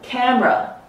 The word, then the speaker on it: camera: I get rid of this second syllable, camera, or chocolate, or average.